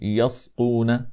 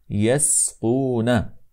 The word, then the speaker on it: يسقون: المهم في هذا هو ان ننتبه الى حرف السين كي لا تتاثر بحرف القاف فلا نقول يسقون هكذا انما نقول يسقون الان نقرا قول الله